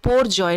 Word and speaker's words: Biparjoy: बिन नामेद bye Bangladesh so in Bengali IT इस called में पोर्जोय note D बाय पर जय way bill pronounce IT joint wiper जय मीनिंग डिजास्टर इन डी